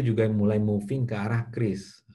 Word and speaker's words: QRIS: mulai moving ke arah kris. Bacanya kris ya, QRAS. Ini kris, kayak kris pisau tradisional, ini kris.